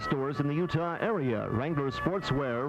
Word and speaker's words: Wrangler: Wrangler gives every guy and gal what they pay for at all ZCMI stores in the Utah area. Wrangler Sportswear, remember the W is silent.